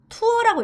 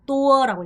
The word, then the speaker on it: tour: 투어는 베트남에서 투어라고 읽지 않고 또어라고 읽어요. 낙도어라고 해요.